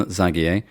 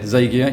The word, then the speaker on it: Zagier: And I've chosen to say it Zagier. You were pointing out to me, Don, earlier that it doesn't matter how I pronounce it because you're very easygoing. Everything is correct. I know at least 8 different pronunciations in different countries and I'm used to them all by now.